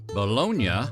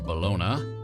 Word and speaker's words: bologna: Bolognia or balona or bologna, whatever your pronunciation, is pork, beef, chicken, turkey, or a combination thereof that is finely ground with fat, salt, and spices.